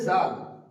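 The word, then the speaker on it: ذال: তারপর আছে জাল, জাল উচ্চারণ করার সময় আমরা খেয়াল রাখবো জালটা হবে একটু তোতলাল, জিভের আগা সামনের দাঁতের সঙ্গে লাগিয়ে উচ্চারিত হবে জাল, জাল।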